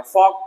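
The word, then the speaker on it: folk: फॉक, लोकगीत, है ना, फॉक, एफ ओ के फॉक, एल साइलेंट फॉक, लोकगीत।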